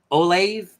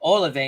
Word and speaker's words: Olave: the 12 here I don't know how to pronounce that gentleman's name o l a v a e olave olave in the 56 is definitely going to